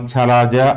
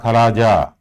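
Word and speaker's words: chalaza: Next, where the integuments and nucellus fuse, that area is called chalaja or khalaja. Chalaja, another pronunciation here, khalaja.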